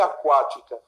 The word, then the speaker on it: aquática: Aquática é proparoxítona, antepenúltima sílaba.